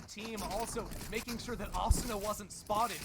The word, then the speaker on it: Asuna: How do you pronounce Asuna? It's Asuna.